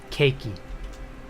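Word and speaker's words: ケーキ: an english one though it would probably be um cakey just i don't know it it's not cake because we say the word cake you know cake but they would go cakey and i don't get why it's a key on the end instead of cake cake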